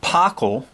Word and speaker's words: POCl3: That's often pronounced pocyl, pocylpyridine.